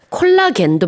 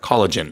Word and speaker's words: collagen: 콜라겐도 마찬가지예요. 그 영어로는 콜라겐 안 하고 collagen. Collagen 이렇게 하죠. 그래서 뒤에 gen 이렇게 발음이 좀 달라진다는 거.